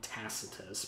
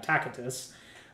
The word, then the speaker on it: Tacitus: annals i'm using the latin pronunciation some of you call it tacitus but i prefer proper latin tacatus uh in uh book